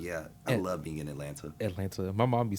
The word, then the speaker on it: Atlanta: Atlanta Atlanta Atlanta Atlanta Atlanta yeah no teeth if you pronounce the t's in Atlanta that's how I know